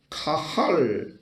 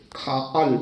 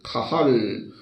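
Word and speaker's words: קהל: 보면 총회라는 말로 번역되는 카할 카할 또는 가할이라고 발음하는데 그렇게 발음을 하는 단어를 씁니다이 말은 하나님의 부름을 받아 모인 사람들의 모임 모임 그것을 가할 구별된 공동체 그런 말이죠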